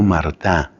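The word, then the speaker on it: Martin: Acuérdate, por ejemplo, de Luis Celina, ese matrimonio canonizado, los papás de Santa Teresita, de apellido Martá, que se escribe Martín.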